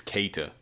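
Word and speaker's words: Keita: It's isn't it? Kate. It's Kaita. Oh, I'm sorry.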